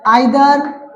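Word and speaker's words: either: इसके बाद में आएगा आइदर, इसके बाद आएगा आपका नाइदर। लोग प्रोनाउंसिएशन करते हैं इधर नीदर भी से बोलते हैं, तो वो भी कह सकते हैं आप।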